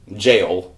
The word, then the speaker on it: Gaol: The only reason I knew what Gaol was jail.